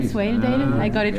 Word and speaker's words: Swaledale: Swaledale?